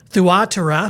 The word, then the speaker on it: Thyatira: challenge, the church at Thyatira, as we would say in a lot of English parlance. In Greek, it's actually Thyatira. Thyatira. That's the way that the Greek reads, but we're going to